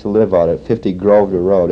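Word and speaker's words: Grosvenor: live on at 50 Grove to Road it's not gross Vader but they uh for some reason don't pronounce the S over here SL 85 are some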